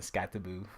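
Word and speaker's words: Skattebo: That's how I pronounce it. Don't try and sound all proper as white saying Scatterboo. Scatterboo.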